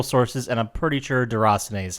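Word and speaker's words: Déraciné: I looked through several sources, and I'm pretty sure Deracine is how you say it.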